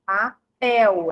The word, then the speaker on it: papel: Na palavra papel, papel é o pel.